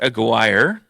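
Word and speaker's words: Aguirre: Mark a Aguire. Aguire. No, you said it right the first time.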